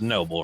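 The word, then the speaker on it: Knoble: your last name was noble right in ob-l-e k-n-o-b-l-e okay that's novel well no if you spell the word known k-n-o-w-e and it's still pronounced this no okay so silent sir I know you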